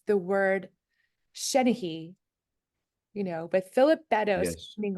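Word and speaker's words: seanchaidh: And of course, that's a Gaelic word and it doesn't look like Shenahee.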